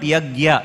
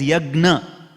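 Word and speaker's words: yajña: to GA you see they say yagya it is not yagya it is yagna it is actually yagna it is not g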